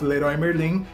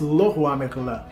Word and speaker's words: Leroy Merlin: It's not Leroy Merlin, it's Le Roi Merlin, all right?